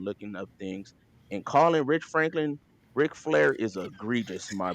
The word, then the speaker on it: Rich Franklin: Anderson Silva's typology and I didn't know how to pronounce Rich Franklin so I thought it was Rick Franklin and it sounds likei